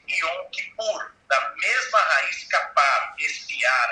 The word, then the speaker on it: Yom Kippur: Até mais tarde você vai ter lá o famoso dia da expiação, que em hebraico pronuncia-se Yom Kippur, da mesma raiz capar, espiar ali, não é?